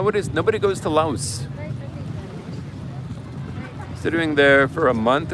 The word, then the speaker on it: Laos: I learned yesterday that it's pronounced Lao. Yes, I I've heard that, too. You You leave out the S.